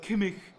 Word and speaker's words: Kimmich: Yeah, but this is like your whole thing about Kimmich. well, it is Kimmich. Kimmich. Oh, that's how you pronounce his Yeah, name.